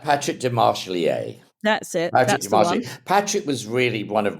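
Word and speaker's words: Demarchelier: But take us through how you met Mario Testino and I never know quite how to pronounce his name, but Patrick de Marchelier. That's it. Patrick de Marchelier.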